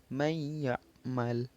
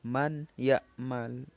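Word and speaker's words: مَنْ يَعْمَلْ: Lalu yang selanjutnya adalah may ya'mal. May ya'mal, bukan man ya'mal. Salah kalau man ya'mal, karena dia jika kita membacanya man ya'mal secara jelas, maka dia bukan idgham bi gunnah lagi, maka dia dibaca dengan izhar halki karena dibaca jelas.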